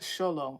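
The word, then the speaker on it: Xolo: people were buried with a Zolo pronounced sholo okay sholo made of obsidian or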